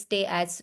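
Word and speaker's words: Tay-Sachs: is the tax disease tax the pronunciation is stay as disease also known see this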